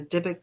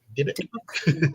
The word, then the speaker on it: Dybbuk: everybody believes, I think it's popular anyway, that a Dybbuk box is a cursed object, right?